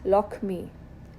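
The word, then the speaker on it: লক্ষ্মী: Lakshmi, so you can see the K and Sh next to each other, becomes Lakshmi. Pakshi, Pokhi. Laksh, Lok. So the K letter is doubled to make the pronunciation simpler.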